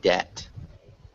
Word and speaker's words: debt: small thing may maybe debt that you're p yeah it's like dead okay yeah perfect so you don't pronounce that b and so what about